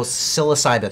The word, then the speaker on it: psilocybin: Oh, psilocybin.